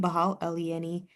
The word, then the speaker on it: Behal: Um, you can find me on Instagram at uh B E H A L or Bahal. Sorry, that's how I'm supposed to pronounce my last name.